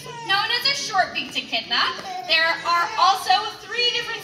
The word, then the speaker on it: echidna: or even seen one so this is edna the echidna h i dna so honestly it's spelled as weird as it sounds but if you have